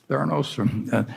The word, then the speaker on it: Theranos: And Theranos, I think, is that the way you pronounce it, Charlie? Theranos? Yeah. Yeah, and I mean, the